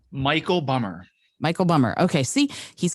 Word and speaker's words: Bummer: It's Michael Bummer. Michael Bummer. Okay, see, he's got a couple of different ways that he goes, so I wanted to make sure. So let me tell you about Michael Bummer.